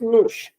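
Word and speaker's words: nos: Then we have no the conjugation is and the reflexive pronoun is no mush n o s but without the accent. So we call this moosh.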